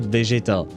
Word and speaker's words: Vegeta: In French, we pronounce it Vegeta. It's a bit less uh there's a bit less accentuation, but he it does sound like um um like vegetables indeed.